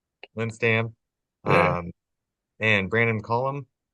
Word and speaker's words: Lindstam: Lynn Stam. Linstam.